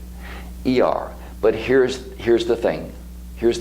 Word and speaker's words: Iyar: You spell it I-Y-Y-A-R. Iyar.